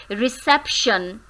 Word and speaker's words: reception: So, the word reception is made up of 3 syllables, re, sep, shun. But which syllable in this word is more stressed? किस पे हम stress करते हैं बोलते हुए? हम किस syllable पे इस word के अंदर स्ट्रेस करते हैं? Reception. Reception. So, sep is stressed here.